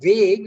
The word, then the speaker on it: vague: the vague of Oblivion the word vague you don't need to pronounce the GU okay it's vague English language is like that the wake of Oblivion